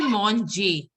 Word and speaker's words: Monge: And it should be Monje. Monje. Okay, La Sala Monje. ER is pronounced as A.